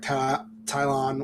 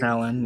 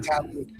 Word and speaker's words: Talon: I don't think she's going to be Darth Tylon, whatever I used to say her name. Talon, yeah. Talon.